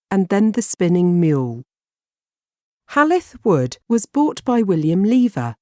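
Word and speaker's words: Hall i' th' Wood: was demolished in 1949 halith wood was built in the 16th century its name comes from hall in the wood and is spelt how it's pronounced in the local dialect the house was owned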